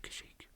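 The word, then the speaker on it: Kashyyyk: and that is false their home planet is called kashik or kashik I say kashik I'm pretty sure that's how how you pronounce it fairly certain that's how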